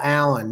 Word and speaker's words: Allen: one this open hail Allen no I didn't pick it because it's it's spelled differently than my name um Alan this is a-l-l-e-n so I can't claim that either pronounced the same but this one from